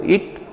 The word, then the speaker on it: it: तो इट कैसे प्रोनाउंस करते हैं, इट इट, और एक होता है ईट। क्लियर है दोनों में, एक होता है ईट और दूसरा होता है इट।